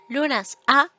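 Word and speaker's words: Lughnasadh: nazar 31 de Julio look nazar pronunciado lunas a significa la conmemoración de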